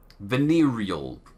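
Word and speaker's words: venereal: Now superstition and rumors are passed around among the men like an open flask of venal disease. Venerial pronounce it properly.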